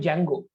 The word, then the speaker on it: Django: Today I'm gonna use a technology called Django. It's spelled as DJNGO, Django, to build this web application with Python.